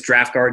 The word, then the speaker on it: Draught Guard: so our website is draft guard comm we spell it dr a you ght nice huh guard comm